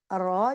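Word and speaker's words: ر: रॉ जो है हम ऐसे प्रोनाउंस करेंगे, रॉ pronounce from the एज edge and and top part of the tongue, touching the gums of the top 4 front teeth.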